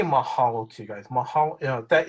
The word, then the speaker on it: Mahalo: How do you say it? Mahalo? Yeah, that's it. Mahalo.